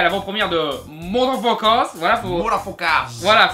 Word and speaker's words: Mutafukaz: de Mutafukaz, voilà, voilà, c'est une prononciation bien spéciale, voilà, parce que vous lisez Mutafukaz, mais en fait c'est censé être un petit peu... Voilà, c'est censé être un petit peu une phonétique pour motherfucker.